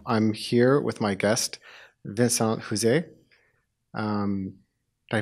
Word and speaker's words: Vincent Houzé: I'm here with my guest, Vincent Houzé. Did I pronounce that right?